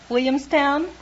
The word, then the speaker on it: Williamstown: Williamstown. What happened to the L's? You knocked the L's out of that word. Can't you say Williamstown? Try it.